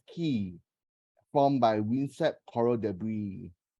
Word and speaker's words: cay: In English, Cay is pronounced key, formed by windswept coral debris.